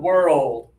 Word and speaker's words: world: Yeah, so when you slow this down to two syllables, you're going to be more clear, and you're going to avoid confusion, okay?